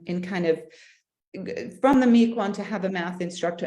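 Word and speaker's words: Miquon: the older boys men now saying that yes spell it again m i q u o n math Meek one math okay and it and it uses Cuisine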